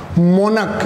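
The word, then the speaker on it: monarch: तो दोस्तों एक्चुअल में ये आर्कीवर्ड वो एक शब्द है मोनक, इसको मोनक बोलेंगे, क्या इसको च बोलेंगे, च नहीं होगा यहाँ उसका प्रोनाउंसिएशन, यहाँ होगा इसका प्रोनाउंसिएशन क।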